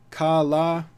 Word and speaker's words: Kaala: Rajinikanth new teaser Kalla is it pronounced kala because there's two it's kala Kalle is it Kalle